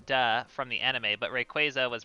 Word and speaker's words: Rayquaza: from the anime but rayquaza was pronounced quasar so shrug or but rayquaza isn't pronounced quasar so shrug well no in the anime rayquaza is pronounced rayquaza it's not it is pronounced like quasar not it's not rayquaza